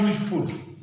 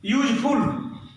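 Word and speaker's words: useful: जैसे मैंने कहा यूजफुल, अयूजफुल, यह यू तो है लेकिन इसका उच्चारण व्यंजन की तरह है, इसीलिए हमने सबसे साफ शब्दों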